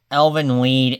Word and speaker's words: Elfen Lied: Elven Lied, it's German.